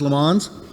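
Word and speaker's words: Le Mans: the Year Shelby won lemons right snake that's how you pronounce it as lamons in in 59 uh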